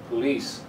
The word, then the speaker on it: police: The second syllable is the strong one. Police.